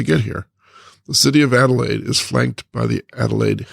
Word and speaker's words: Adelaide: and the pronunciation of Adelaide. Dickson had it right when he said he pronounced it Adelaide. But said that us Adelaideans would pronounce it Adelaide.